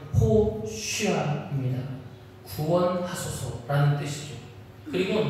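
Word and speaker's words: הושיעה: 호산 히브리어로 정확하게 발음하면 호쉬아입니다.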